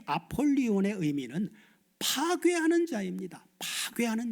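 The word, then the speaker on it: Ἀπολλύων: 자, 히브리어 아바도는 그 의미가 파괴, 멸망이라고 하는 의미이고 헬라오이 아볼루온이라고 하는게 헬라오 발음으로는 아폴리온인데이 아폴리온의 의미는 파괴하는 자입니다.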